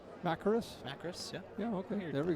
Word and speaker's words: Macris: Macris, yeah.